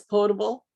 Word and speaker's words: potable: Is it potable or portable? Shouldn't it be portable? No, it's spelled correctly. It is spelled correctly. It is potable, not POR.